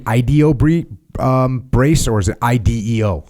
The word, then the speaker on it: IDEO: Hey, tell us about what do you call it, the IDEO brace, or is it IDEO? Like, how do you say that? Yeah, so I call it an IDEO.